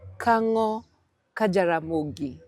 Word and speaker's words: Kango ka Jaramogi: Nairobi, bringing it all the way to Bondo, Kango, Jaramogi.